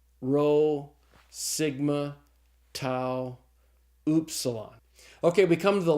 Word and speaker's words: tau: letter is tau and tau looks just like the English tea and it's pronounced like the English tea so the Tau is pronounced like the T in the word talk okay after the tau